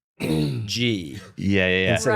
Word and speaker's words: Gee: to reframe your questions now, knowing that it's pronounced G. Yeah. Instead of Right. Gee. Yeah. I can't. Maybe Zach introduced you as Donald. It could have But been. now I I mean, can't remember ghee which is one's right.